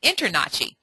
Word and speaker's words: InterNACHI: call it nahi and you don't call it i n t r n a c hi I you call it internachi so what how are